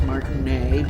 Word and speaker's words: Martinet: Like, I know Charles Martinet because that's French, so we don't say the T. We don't say Charles Martinet.